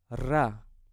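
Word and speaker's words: ر: Now let's move to the next letter, which is ra. Ra. I pronounce this letter as Spanish ra, so you have to roll your tongue when you pronounce this letter.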